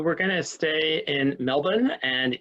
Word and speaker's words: Melbourne: going to stay in melbourne and if you want to sound like a native the the r is silent uh so this is a